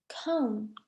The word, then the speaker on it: comb: B is silent or comb B is also silent so there are not